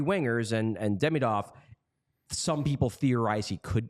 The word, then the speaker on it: Demidov: Ivan Demidov, because you got to do the second pronunciation, the second syllable pronunciation.